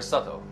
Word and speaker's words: subtle: And I think subtle will be one of the very important ones, because you don't pronounce the B. Yeah. You don't say subtle. Yeah. The B is like subway. It's a subtle B in the word subtle.